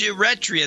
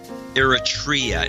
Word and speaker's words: Eritrea: you retha or something I know it's pronounced you ret Rhea that's the way it's pronounced I've always pronounced that